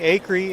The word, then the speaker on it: Acree: here with DES canceled standing here with Tony a curry as it's pronounced the family a Creek sometimes referred out